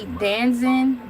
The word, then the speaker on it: DAZN: The fights pull major institutional support from their broadcasting networks, specifically Danzin, that's spelled capital DAZN, and the Zeus Network, who act as major commercial anchors.